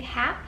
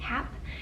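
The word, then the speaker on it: Hape: be this is by I think hap is how you pronounce it ha a p e hap and this is a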